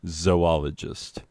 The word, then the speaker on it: zoologist: person who understands that it is pronounced zoologist as in zoology the study of animals and zo oh the place where we keep the animals you say to your